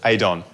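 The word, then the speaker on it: Aodhán: hey johnny double ben and adon yeah that's right adon aedon the correct irish pronunciation that's true so today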